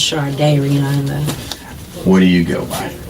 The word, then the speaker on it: Shardayreon: It's pronounced Shardayreon.